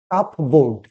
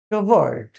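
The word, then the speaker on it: cupboard: এটাকে বলি অনেকেই বলি সি ইউ পি বি ও এ আর ডি কাপবো বোর্ড কিন্তু কাপবো বোর্ড নয় সঠিক উচ্চারণ হচ্ছে কি কাভার্ড কি হবে কাভার্ড কি হবে কাভার্ড তো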